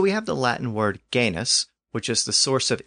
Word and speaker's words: genus: So we have the Latin word genus, which is the source of English words like genetics and genealogy. That original Latin root word was originally pronounced with that hard G sound at the beginning.